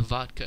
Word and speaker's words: vodka: the vodka effect because when russians pronounce the word vodka in russian they say they say a very clear t in the middle of the word even though the word is written with a d just as it is